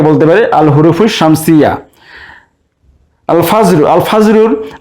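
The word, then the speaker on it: الفجر: আল ফাজরুর আলিফ লামের লাম উচ্চারণ হচ্ছে, তাই এটিকে আমরা বলতে পারি আল হুরুফুল কামারিয়া।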